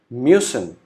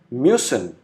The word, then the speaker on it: müssen: Then U with umlaut is pronounced as U. Example, müssen. U is with umlaut, pronounced as U, so it would be müssen, which means must in English.